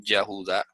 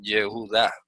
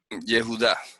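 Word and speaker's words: Yehudá: Nunca se nadie va a decir Yahudá. Eso sería un error garrafal. Eso se pronuncia yejudá. Jehudá. Así es como se pronuncia.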